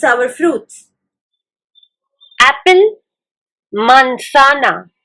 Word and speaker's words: manzana: stay tuned and let's see how do we pronounce our fruits Apple mansana m a n z a n a banana